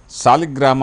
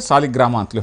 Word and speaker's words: ಸಾಲಗ್ರಾಮ: ಇದು ಸಾಲಿಗ್ರಾಮ ಶಿಲೆ ಅಂತಕಂತದ್ದು ಸಾಲಗ್ರಾಮ ಅಂತಕಂತದ್ದು ಸರಿಯಾದಂತಹ ಉಚ್ಚಾರಣೆ ಆದರೆ ಸಾಲಿಗ್ರಾಮ ಅಂತಲೂ ಹೇಳ್ತಾರೆ ಇದು ಲಕ್ಷಾಂತರ ವರ್ಷಗಳ ಹಳೆಯದು